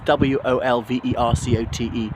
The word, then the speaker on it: Wolvercote: So yeah, Wolvercote, it's W-O-L-V-E-R-C-O-T-E, but usually pronounced Wolvercote, not Wolvercote.